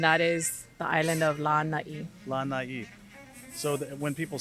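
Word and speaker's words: Lānaʻi: You're looking at Lanai. Lanai. Very important. Lanai. Yep. So you have your lanai, which is your Lanai, balcony yeah. or your veranda. Okay. And that is the island of Lanai.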